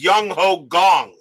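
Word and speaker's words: Jung Ho Kang: Second pronunciation is correct. So it's Young Ho Gong is what you're saying.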